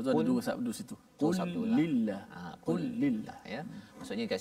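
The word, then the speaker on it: قل لله: Dia kena qul lillah ke qulillah? Kena baca qul lillah. Qul lillah. Okay. Maksudnya lam tu kena, betul. Lam yang pertama mati, qul, kemudian di idgham atau masuk dalam lam yang kedua itu.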